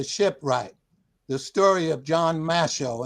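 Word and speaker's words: Mashow: the story of John Masho. And that is spelled M A S H O L as as in show.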